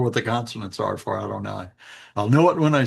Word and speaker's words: Adonai: It's pronounced Adonai by respectful Jews, I guess you would say, respectful non- messianic Jews, but it is the sacred name of God uh that you're not supposed to take in vain. So in order not to take it in vain, they don't pronounce it at all. They substitute a different word, Adonai.